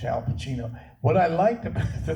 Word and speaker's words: Pacino: Al Pacino is doing Nobody had pronounced my name right. Because it's Pacino. And they go Pacino, and the teachers in school used to get pissed off.